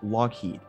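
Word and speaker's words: Loughead: the surname log head it had a Scottish origin but it was spelled in an Irish way and pronounced Lockheed the pronunciation was never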